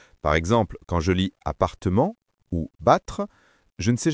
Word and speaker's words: appartement: Dans appartement, le double P ne change rien à la prononciation. On dit simplement appartement.